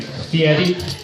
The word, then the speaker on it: Fieri: Here, we only have that one, that diners, drive-ins, and dives douchebag, Guy Fieri. And if you're not familiar with who I'm talking about, pay attention to how I pronounce his last name, Fieri.